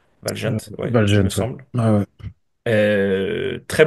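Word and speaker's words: Valjent: Le le Real Madrid a été euh cueilli à froid, un but dès la 11e minute de Valgent, comment on prononce ? Valgent.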